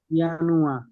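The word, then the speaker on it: Januar: ইয়ানুয়া। হ্যাঁ, ইয়ানুয়া। ইয়ানুয়া কেন হয়েছে বুঝতে পেরেছেন না? ইয়োট আছে, তাই না?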